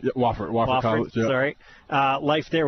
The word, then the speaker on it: Wofford: So you went to Wolford. Yeah. Am I saying it right? Yeah, Wofford College.